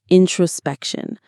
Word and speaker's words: introspection: This is a time for introspection. Here's that beautiful word again, introspection. The stress is on the third syllable.